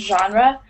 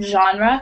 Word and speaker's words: genre: type of genre do you know the word genre it's it's spelled like this I just typed it up on the chat but it's pronounced genre it's a friend French word um it just